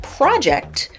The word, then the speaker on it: project: in the difference between the words project or project project stress on the first syllable is a noun meaning an individual or a collaborative Enterprise that is carefully planned to achieve a particular aim project stress on the second syllable is a verb meaning to estimate or forecast on the basis of present Trends or data right away the Nuance